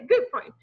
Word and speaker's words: Gutfreund: Oh, okay, Gutfreund. Yeah, so it's friend in English, but gut Freund in German if you sprechen Sie Deutsch.